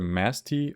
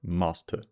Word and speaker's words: Masti: Pronounced either Masti or Masta.